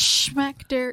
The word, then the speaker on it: Schmechter: It's Schmechter. Why- It's Schmechter. Why wouldn't you say specter, which is an actual word? Well, it rhymes with schmector.